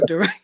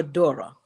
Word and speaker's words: Dorrah: i just realized something i've been saying your name wrong the whole time just saying durant yeah it's okay it's dora yeah got you got